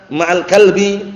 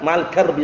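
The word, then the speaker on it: مع الكرب: Kalau wa anal farja maal kalbi itu keliru. Itu nabi farja itu kemaluan. Kalbi anjing. Paham ya? Tapi waal faroja maal garb maal garbi pakai ro.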